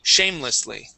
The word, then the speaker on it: shamelessly: Okay, so yes, let's take a look first off at shamelessly. Okay, so our stress is going to be at the very beginning instead of at the end.